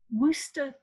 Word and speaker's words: Worcester: do is establish that the city name was pronounced something like worcester or worcester it was two syllables and this last vowel was pronounced in some sort of indistinct way and the r at the end was probably left off in pronunciation by at least some english speakers so coming back to